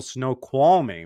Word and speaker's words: Snoqualmie: Spent a night up in the beautiful, beautiful Snoqualmie, right? Did I pronounce it right? Yeah. Yes, Snoqualmie Valley.